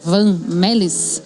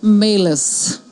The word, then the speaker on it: Van Mellis: É Vamelis. Isso é o abrasileirado Como é que do é o nome. jeito certo de falar? Vamelis.